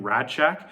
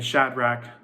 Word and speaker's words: Shadrach: writing this message I kept messing up Shadrach and saying radcheck so if I ever say that just leave a comment be like you said it wrong it's a Shadrach hahaha and kind of move